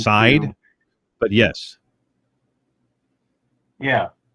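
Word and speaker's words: Seid: By Barry Seed. I've never heard of him, but right. Anyway, this is it's actually pronounced Side, but yes. Yeah, Side. Yeah, right. Barry Side.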